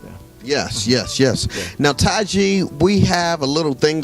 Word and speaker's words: Tize: just look at my name t-i-z-e and it's pronounced taiji and basically you'll find it you'll find it out there yes yes yes now taiji we have a little thing that we do